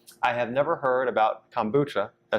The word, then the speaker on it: kombucha: I have never heard about kombucha.